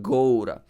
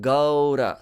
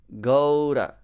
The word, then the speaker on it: Gaura: It's not too much O. Not Gaura. But Gaura. So short gliding into U. Another diphthong. Gaura.